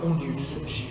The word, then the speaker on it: Hondius: Ce sont des globes qui datent de 1600 et qui ont été exécutés par le géographe Jacob Hondius. H-O-N-D-I-U-S. Il n'y a pas de piège comme ça se prononce.